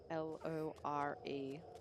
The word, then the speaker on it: lore: Lore. L-O-R-E. Lore. I learned listening to an American streamer that in my accent, in the Australian accent, the words spelt L-O-R-E and L-A-W are actually pronounced the same.